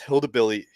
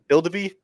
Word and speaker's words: Hildeby: As so you got Dennis Hildebilly, Jesus Christ, how do you pronounce it? Hildeby.